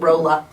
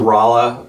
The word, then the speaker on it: Rolla: rolla it does now my mom calls it rola she doesn't know how to pronounce it every time i correct her she's like it's roloff yeah this is uh well